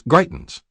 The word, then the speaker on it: Greitens: She asked me my family name, and I told her, "It's Greitens, pronounced like Brightens with a G."